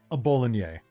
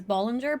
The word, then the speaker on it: Bollinger: Because they usually do drop the R sound at the end, the hard R at the end.